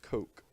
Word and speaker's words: Koch: or is it k-o-c-h it looks like koch but it's it's pronounced coke this this group of